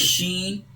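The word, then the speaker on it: ش: Sheen, shin, sheen, tongue middle plate. Okay, sheen will produce middle tongue, middle side of the tongue touches roof of the mouth, mid side of the mouth. So sheen will produce sheen.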